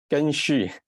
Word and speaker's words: Geng Xu: Is that correct pronunciation? Geng Xu.